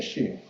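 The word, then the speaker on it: Hrih: Here, this pronunciation we say she. No matter Sanskrit, Tibetan, English, but it's a she actually.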